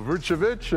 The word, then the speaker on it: Vucevic: Second time All-Star, Nikola Vucevic, and he is on Team Durant.